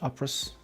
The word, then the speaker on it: Opress: saage is dope okay I think the correct pronunciation is Savage operas just saying my badage they